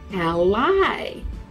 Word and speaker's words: ally: It's spelled the same, but you say it like this. Ally.